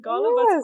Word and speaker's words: Golubac: I know your third pick, but I don't know how to pronounce it. Okay. Golubac Fortress? Yes, it is. Golubac Fortress.